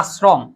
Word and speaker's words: আশ্রম: আশ্রমটা আগে দন্তস্ব হবে। হ্যাঁ, আস, হ্যাঁ আশ্রম না, শব্দ আশ্রম, আস, তারপর হচ্ছে রফলাস শ্রম। এখন প্রশ্ন হচ্ছে শটা কখন দন্তস্ব কিভাবে বুঝবা? এটা জিহ্বা দিয়ে বুঝবা। যদি আশ্রম শক্ত করে বলো তাহলে তালব্যস্য, যদি জিহ্বা দিয়ে বলো, পাতলা করে বলো বা দন্তস্ব দিয়ে বলো তাহলে হচ্ছে দন্তস্ব, আশ্রম।